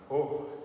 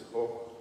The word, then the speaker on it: Gogh: been intrigued by the paintings of Vincent van Gogh. I'm told it's Gogh, not Gogh, not Go, but Gogh, apparently is the Dutch pronunciation.